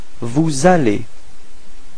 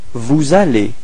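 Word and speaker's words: vous allez: So the same thing the le between s and vale. Repeat vale.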